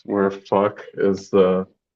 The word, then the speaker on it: Phuc: Fuck. no, I mean, how would they pronounce it? Oh, they would say Fook. Oh, okay. Like there's two O's there or something.